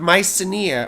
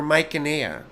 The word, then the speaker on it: Mycenae: king in his stead, of Mycenae or Mycenae, right? I've heard it pronounced both ways.